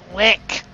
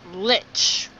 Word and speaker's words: lich: Not lick, as Zorback would pronounce, it's lich.